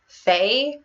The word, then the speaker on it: Feyre: main character to have a name that's basically pronounced like the most used word in this book?